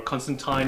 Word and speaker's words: Constantine: Well, look, Constantine for me, or Constantine is apparently how you're supposed to pronounce it.